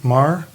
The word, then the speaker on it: Maher: Is it Is that the same name as Bill Maher? I don't claim Bill Maher. No, but is it the same pronunciation? It's the same spelling. Robin Mar.